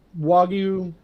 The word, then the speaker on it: wagyu: talking the 25 blogging how's it pronounced um wagyu w-a-g-y-u the one that